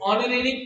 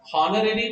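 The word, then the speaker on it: honorary: मैक्स was given an ऑनरेरी post, ऑनरेरी फिर से हम हॉनरेरी नहीं पढ़ते तो एन लगाना पड़ेगा।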